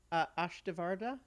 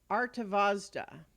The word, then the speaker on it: Artavazda: is another Angel called atavarta ashdavarda wait no hang on sorry um I mean I just I can say it right artavazda greeted you and thank